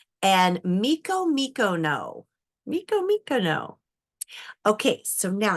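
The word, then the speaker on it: Micomicona: Okay, so now we need a couple more words for the pronunciations before we read the next section. We have Sierra Morena and Miko Mikono.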